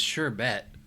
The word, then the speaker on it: sherbet: sherbet yeah actually it's sherbet there's no R in the word sherbet I've always pronounced it